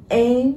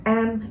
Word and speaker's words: aim: Aim, không đọc là am, aim mà nó sẽ là âm e.